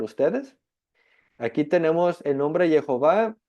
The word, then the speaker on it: Jehová: Y tenemos Ye como la primera sílaba, Hov, la segunda sílaba y A, la tercera sílaba.